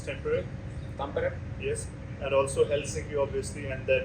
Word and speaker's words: Tampere: One of them is how do you pronounce Tampere? Tampere, Yes, and also Helsinki, obviously, and then Turku.